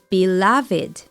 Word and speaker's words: beloved: the pronunciation It's Tricky beloved you pronounce the word loved as in loved by many without the e sound loved but you pronounce the word beloved with that e sound at the end most beloved King oh